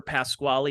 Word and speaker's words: Pasquale: Cheese back in the day, and I remember Pasquale is one of the...